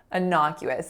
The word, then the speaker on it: innocuous: this simply means harmless so an innocuous there are four syllables the first one is a schwa the second one is our winner not then we have Q like the name of the letter and then whoops so W schwa s final syllable an